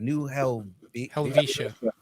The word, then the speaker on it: New Helvetia: New Helvetia.